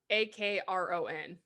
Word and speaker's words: Akron: an a that's really close to indiana it's spelled like a-k-r-o-n akron yeah because so you move down to